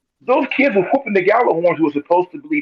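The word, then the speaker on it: Gjallarhorn: Gallarhorn. Thank you. So the Gallarhorns, my thing is with them, those kids were whooping the Gallarhorns who were supposed to be militarily trained and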